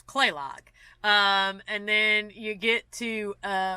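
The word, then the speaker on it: Kalaloch: to pronounce things like they drop a lot of vowels so like clay Locke is actually kaal and I'm like you know there's an a between the K and L they don't care they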